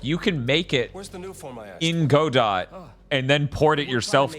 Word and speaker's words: Godot: a console right unlike Godot or Godot Godot mate I think that's how it's pronounced right Bob yeah it is Australian yeah what the